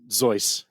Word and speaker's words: Seuss: on JY and Seuss which doesn't sound as good as JY and zoy always right but you know if you're saying if you're saying Seuss you're all you're all wrong anyway now now when